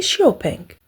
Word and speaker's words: XPeng: son fondateur hiaopeng d'ailleurs en Chine la marque est prononcée Xiaopeng xpeng fait partie des